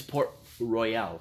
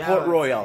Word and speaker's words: Port Royal: in a couple yeah it's no it's por royale yeah not port royal yeah royale how do